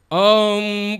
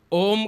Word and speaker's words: ओम: सृष्टि का सृजन किया हम लोग ओम का उच्चारण करते हैं ओम में सारी सृष्टि निहित है आ उ मा ब्रह्मा विष्णु महेश सृजन